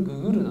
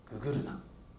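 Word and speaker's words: GGRNA: これググルナって読みます。ググルナ。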